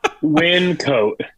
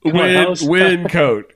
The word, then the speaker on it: Wyncote: a place in Pennsylvania that I probably can't pronounce the name of. I say Wyncote. Wyncote.